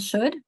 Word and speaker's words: should: word and could and should. With the. First two you can make the El connection to well and show as you don't hear it word could you don't hear that.